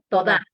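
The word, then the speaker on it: תודה: Me quedó muy claro toda la explicación sobre Yoná. Pregunta especial. ¿Cómo se pronuncia gracias en hebreo? Toda.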